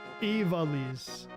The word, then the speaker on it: Evalis: It's more V than VA. Okay. Evalis. Evalis.